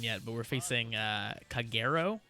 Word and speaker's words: Kagero: but we're facing uh kagero i believe is how you pronounce the clan name and they're very much